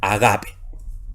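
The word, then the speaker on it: ἀγάπη: Y en este caso no se pronuncia, así que la palabra sigue siendo agape.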